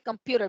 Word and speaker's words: computer: está como por ejemplo la segunda palabra que dice computer vean que esa comita o ese apóstrofe está después de la primera sílaba quiere decir que el acento está en la segunda sílaba verdad no es